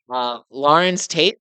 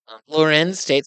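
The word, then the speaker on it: Larenz Tate: Lawrence Tate played Lorenz Tate.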